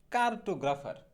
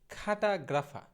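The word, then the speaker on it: cartographer: তো এদের ইংরেজি আমরা মোটামুটি সবাই বলি কার্টোগ্রাফার। আমরা অধিকাংশ সময় যে ভুলটা করে থাকি আমরা বলি এটাকে কার্টোগ্রাফার, কিন্তু সঠিক উচ্চারণটা কিন্তু কার্টোগ্রাফার না। সঠিক উচ্চারণটা হবে খাঠা, এইরকম, খাঠা গ্রাফা। সঠিক উচ্চারণটা হবে খাটাগ্রাফা।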